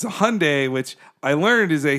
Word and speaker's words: Hyundai: When we got there and the reps were there, they're like, it's Hyundai like Sunday, not Hyundai like Sunday, okay?